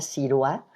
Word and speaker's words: Sirois: una autora que ha escrito sobre esto, la doctora María Ciroa, se escribe Sirois, ha escrito un libro muy hermoso que se llama Un pequeño curso de felicidad después de la pérdida.